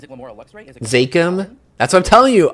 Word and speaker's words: Zakim: Is it Zakim? That's what I'm telling you. I'm not a good New Englander. I'm pronouncing the bridge wrong. It's the Zakim Bridge.